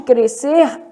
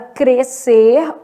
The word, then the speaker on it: crescer: seis o quê fonemas no caso de crescer dígrafo o o s e c estão formando o dígrafo né então apenas o som da letra c é emitido então na palavra crescer ocorre dígrafo Beleza então